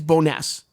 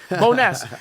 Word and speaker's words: Bonesse: I I don't know how to pronounce it, but it's it is Boness. Bon, you're right. That's what we think it is. All right, that's right. Boness.